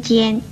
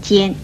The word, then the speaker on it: 尖: 与纤字相似的有尖跟颤这两个字，尖字的国语注音是鸡烟尖，一声尖。